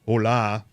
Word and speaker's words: Hole: He's a Norwegian crime novelist and he's got a character named well it reads as Harry Hull. Yeah. Okay. But in uh it's actually pronounced hola.